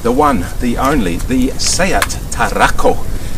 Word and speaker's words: SEAT Tarraco: one the only the sayat tarako and i say it like that because it's actually named after a certain place in spain if you do a